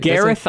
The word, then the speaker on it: Gareth: You know, as far as experimental rock goes, I think Garrett Lilliard is Gary, did you say or, Gary?